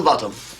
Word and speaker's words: Botham: spelled both them and it's pronounced bottom I've just told him